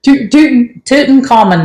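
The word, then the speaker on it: Tutankhamun: that King Tut we'll say that King Tut toon toon common that's how you say his name so um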